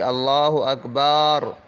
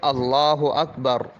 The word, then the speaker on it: اللہ اکبر: تو نماز جاتی رہے۔ اسی طرح اگر اکبر کی بے کو بڑھا کر پڑھا، یعنی اللہ اکبر، تو بھی نماز جاتی رہی۔ صحیح تلفظ ہے اللہ اکبر، اللہ اکبر، اس طرح پڑھنا چاہیے۔ مسئلہ نمبر 16، کسی